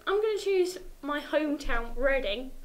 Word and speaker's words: Reading: Carla, um, I'm going to choose my hometown, Reading, because it's spelled reading. So, it should either change the spelling or we should call it reading because it makes no sense otherwise.